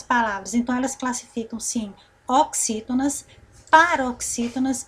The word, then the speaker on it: oxítona: Agora, se nós fôssemos por aqui já classificar, qual é a sílaba tônica da palavra oxítona? Olha só. O X, né? Ó, o X e o I, vamos sublinhar.